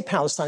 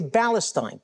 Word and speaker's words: Palestine: In fact, Arabs can't even pronounce the letter P. They can't even say Palestine. They say Palestine.